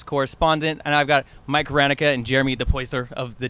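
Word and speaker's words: Hranica: Yeah, Rancia sometimes, which makes it like CIA when it's ICA.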